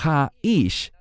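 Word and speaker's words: האיש: Y noten la siguiente frase, Ashrei ha-ish. La palabra ish significa varón, pero el término ha-ish, escuchen bien esta sílaba, ha, es una sola letra en hebreo y expresa o se usa como artículo definido.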